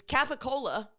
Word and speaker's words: capicola: what is Gaba goul I know I didn't spell it right there you go Marine uh it's capicola c a p p i c o l